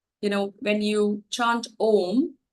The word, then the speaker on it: Om: You know, when you chant Om, which is a combination of 3 syllables, you can feel those vibrations from here till your solar plexus, which is below your chest.